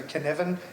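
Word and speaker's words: Cynefin: yell at oh so I'm hearing you say Canan how how's that spelled it's c y n e f i n that's GIC pronunciation so Canan but it's with an f c y n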